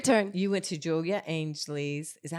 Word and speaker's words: Ainsley: You went to Julia Ainsley's.